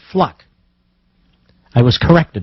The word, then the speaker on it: Fluke: to pronounce it because it's not fluke it's fluck I was corrected not